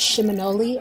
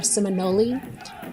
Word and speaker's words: Seminole: or Muskogee word, and it's pronounced Shimonoli or Seminole.